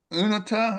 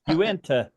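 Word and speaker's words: Uinta: So, yeah, I guess now the you're call you're in pronouncing that uh Unata or Anita Mountains. Uenta Uenta.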